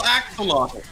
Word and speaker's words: axolotl: the porn titles was full throttle axolotl and that did the job quite nicely it taught me exactly how to pronounce axolotl in a way that